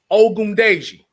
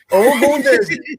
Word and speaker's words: Ogundeji: never mentioned it to y'all, and that's Antetokounmpo Ogundeji.